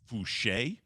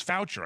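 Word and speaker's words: Foucher: i thought it was voucher i just read f-o-u-c-h-e-r i just didn't know it was a french pronunciation don't worry max a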